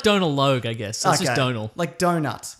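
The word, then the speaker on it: Domhnall: hate the character Hux Donal Glee apparently it's pronounced like a donut with an L oh don't listen it's like Donal Logue I guess Donal like donut donut Tyson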